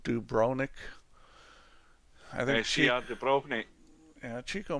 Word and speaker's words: Dubrovnik: Isn't the V pronounced? CR Dubrovnik. Is it Dubrovnik?